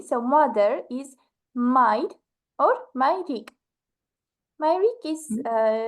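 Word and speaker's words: մայրիկ: We just say Mayrik. So, for example, Astghik, gentler way. As for father, it's Haid, you pronounced it perfectly, or Haidik.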